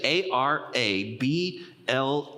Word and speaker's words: arable: The word is a r a ble e. Write that down if you would. A r a ble. It's pronounced arable.